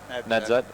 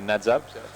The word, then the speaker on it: Nadzab: We will do at least one landing at so I can pronounce it right again. Nadzad. Yeah, Nadzab.